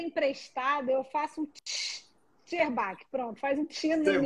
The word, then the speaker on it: Szczerbacki: Será que eu pronunciei seu sobrenome correto, Acho que Renata Zerbach? pronunciou. Na verdade, como ele é emprestado, eu faço um Sherbach.